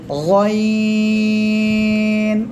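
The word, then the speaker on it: غين: গলার শেষ ভাগ, অর্থাৎ জিহ্বার গোড়ার কাছাকাছি জায়গা থেকে 3 আলিফ টান হবে। গইন।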